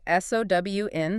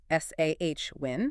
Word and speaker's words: Samhain: And it's pronounced roughly S-O-W-N, sometimes S-A-H-Win.